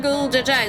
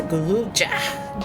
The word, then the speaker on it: Golbez: Now, let's go see our Golbez. It's not Golbez, it's Golbez. Just one bez.